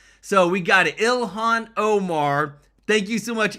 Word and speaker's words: Ilhan: Ilhan Omar's pronounced name correctly. So, we got it. Ilhan Omar.